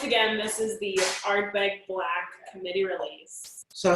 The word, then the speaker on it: Blaaack: staff this now, that it is not Ardbeg Blaaack, because there are 3 A's, it's actually Ardbeg Blaaack. The wonderful tones of Scotch Gaelic has come over. And so Ardbeg Blaaack, No. pronounced correctly, is Ardbeg Blaaack.